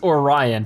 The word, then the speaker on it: Orion: Okay, so it's pronounced Orion, sorry.